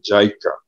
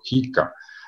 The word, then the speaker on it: JICA: y la cooperación japonesa a través de JICA o JICA, según como se pronuncie.